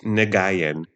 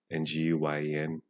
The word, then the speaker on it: Nguyen: It's spelled phonetically, it's Nagayan, which is the ugliest word ever. I terribly butchered that name for most of my life, but it's so common